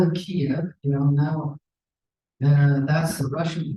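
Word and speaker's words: Kyiv: We used to call it Kiev, now that's the Russian pronunciation. Now it's Kiev, which is the Ukrainian pronunciation.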